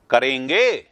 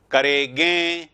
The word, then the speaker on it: करेंगे: करेंगे, देखो अगर गे के ऊपर बिंदी लगाएगी, इसका उच्चारण क्या होगा? करेगे, करेगे, करेगे हो जाएगा उच्चारण। उच्चारण तो करेगे है ही नहीं, उच्चारण है करेंगे, करेंगे तो करेंगे, एक के ऊपर आएगी बिंदी।